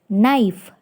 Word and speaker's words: knife: is silent letter fifth knife K is silent letter sixth soften T is